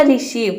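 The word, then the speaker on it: receive: यहाँ पे ई जो है ये साइलेंट है। किसी भी वर्ड के लास्ट में ई आता है तो वहाँ पे ई साइलेंट रहता है। ये हो जाएगा रिसीव।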